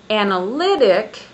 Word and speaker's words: analytic: For example, if I say analytic, I have the stress on the third on the third syllable.